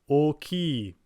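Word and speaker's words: 大きい: Oki, meaning big, is different from just saying oki, meaning the open sea.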